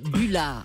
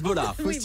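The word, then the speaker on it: Bollaert: bullart comment en plus elle veut qu'on dise Buard Bolard Bolard Bolard ça se prononce Bolard Bard c'est plus facile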